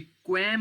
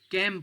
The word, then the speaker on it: quem: QUEM ये क्वैम नहीं है, ये कैम पढ़ा जाता है।